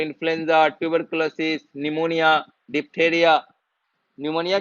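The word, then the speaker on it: pneumonia: जरिए common cold influence of tuberculosis निमोनिया diarrhoea निमोनिया के spelling कौन बताएगा है तो बता नाम बताओ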